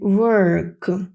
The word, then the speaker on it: work: Hard дзвінка з They далі Work ми бачимо що в нас не просто О а Work значи м'ягкий знак о не плутамо зі словом вок вок - це ходити гуляти Я вам напишу ось